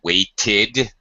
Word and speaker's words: waited: It can sound like id after a t or d. I waited for 3 hours, for example.